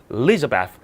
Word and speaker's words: Elizabeth: 영어라는 게 강세가 중요해요. 어디를 강하게 읽느냐. 강하게 읽으면 또렷하게 들리고 강하게 읽지 않으면 발음도 죽어버립니다. 그렇게 발음이 죽는 것, 또렷한 거의 차이점도 그 영어를 이루는 요소입니다. 그래서 얘는 이 L자 뒤에 있는 I의 강세라는 게 있어서 Elizabeth 아예 앞을 버리고 Elizabeth라고 읽으면 알아듣습니다.